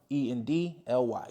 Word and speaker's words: Calendly: Okay, Calendly is spelled like colander, so it's Calend, CALEND, Lee, LY, CALEND, LY, Calendly.